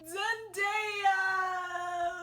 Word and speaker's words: Zendaya: Stamps no zendo Zen don't say her name Zendaya wow of course blah blah blah life is